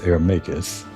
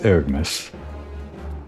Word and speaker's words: Ergmus: I recognize the name, and I always pronounced it in my head as Ermacus. But I guess it's Ergmus, now that I actually have to say it out loud.